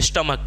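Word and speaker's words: stomach: तो नहीं है ना स्टमच नहीं ना बोलते इसको इसको बोलते हैं स्टमक ठीक है तो स्टमक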